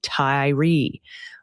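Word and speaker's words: Tiree: Tari is pronounced tie as in necktie. Re rhymes with free. Tyree.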